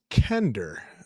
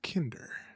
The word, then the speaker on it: Kender: It's Kender, not Kinder.